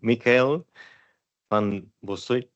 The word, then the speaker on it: Michael van Bossut: Moving on to my next speaker, whose last name I for sure will mispronounce. So, Michael van Bossut.